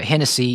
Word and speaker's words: Hennessee: Uh, you mentioned Hennessy. It's it's pronounced like the drink, but it's spelled differently.